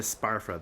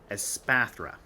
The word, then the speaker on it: Espathra: let's talk about espaphra I've been calling it a sparfra this entire time but anyways let's talk about aspathra I'm also terrible pronouncing